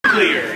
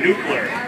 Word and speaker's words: nuclear: nuclear you have to pronounce that right some people would say nucar I been practicing marel